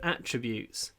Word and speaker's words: attributes: Actually, there's one other word, attributes. He has many positive attributes. So the noun is attributes, with the stress on the first syllable.